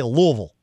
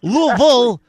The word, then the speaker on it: Louisville: to louisville yes okay so louisville to anybody from louisville they say louisville louisville right that's how they say it right i grew